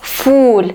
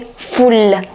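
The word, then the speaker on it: فل: morning of jasmine but be careful don't say fool it should be full with two because if you say sabahol fool it will be the morning of beans although it's a very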